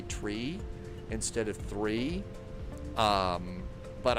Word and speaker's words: three: Uh Monica, why do controllers sometimes say tree instead of three? That is a specific pronunciation that you are supposed to use on the radio. Like you would say, you know, for the number nine, you would say niner because nine also means no in German.